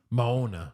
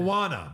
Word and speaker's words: Moana: uh the movie title is that too no Mona Mona Mo but she said Moana Moana is how you pronounce it but his name of it is